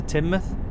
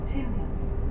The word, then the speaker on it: Teignmouth: per hour speed restriction as we come into Teignmouth. It's always an interesting town to pronounce. Always heard people calling it Teignmouth. We are now approaching Teignmouth.